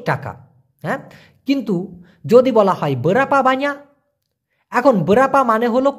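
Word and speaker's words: berapa: কিনতে গেলে এবং ইনি ব্রাপা হারগা ভাই এটা কত দাম এভাবে বলতে পারেন বলেন তো বরাপা হারগা অনেকে বলে বিরাপা আবার কেউ বলে বেরপা বেরপা না ভাই উচ্চারণটা হবে বরাপা বরাপা হারগা কত দাম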